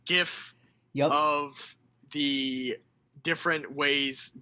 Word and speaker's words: GIF: So right here, I have and yes, it's pronounced GIF yep.